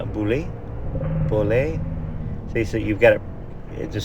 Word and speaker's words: Beaulieu: In England, we have a town with the same name. We say Boulay.